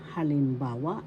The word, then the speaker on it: halimbawa: that means future example halimbawa in tagalog is example halimbawa first syllable ha second syllable lim third syllable ba syllable wa halimbawa the third syllable has the accent so you pronounce this as Halimbawa halimbawa na ganap tense